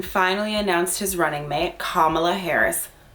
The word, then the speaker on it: Kamala Harris: so joe biden finally announced his running mate kamala harris kamala harris is how you say her name um and